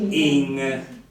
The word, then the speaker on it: un: Quando si tratta di articolo indeterminativo si scrive un e si pronuncia in.